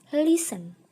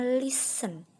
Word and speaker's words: listen: listen yang artinya mendengarkan pernyataan listen itu adalah pengucapan yang kurang tepat ya teman-teman yang tepat adalah listen Nah jadi kata listen itu huruf t nya dihilangkan ketika mengucapkan jadinya lesen bukan listen lagi tapi lesson Oke jadi